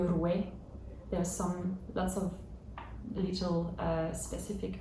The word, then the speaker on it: roi: It's French recitation, so you don't say le roi, but le rouet.